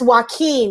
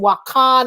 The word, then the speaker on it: Joaquin: and I think that's why keen because I kept calling him walk on or whatever that's why keen yeah Joaquin um so